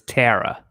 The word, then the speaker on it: Tara: tara barry andreas is is it taro or tyra tara t-a-r-a yeah i thought we might be saying it wrong no i think it's because of her accent oh okay because it's terra yeah i think that's how she says it's our british way of saying it yeah and we're like